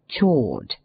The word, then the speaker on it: chawed: its orthography and pronunciation, namely chawed. This term is no other than chewed, modified.